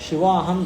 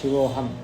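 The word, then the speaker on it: शिवोऽहम्: नहीं करेंगे नहीं करेंगे अवग्रह होगा तो सीधा पढ़ना ऐसे ही जो भी शिवोह शिवो अहम नहीं शिवोहम चिदानंद रूपा शिवोहम शिवहम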